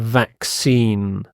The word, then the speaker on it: vaccine: sound vacine and it's in not in in vaccine a vaccine is a substance given to protect